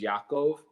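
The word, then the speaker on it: יעקב: how that's pronounced and then Jacob is Yakov so there's a much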